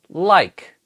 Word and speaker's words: like: Silent E makes the I say its name, like.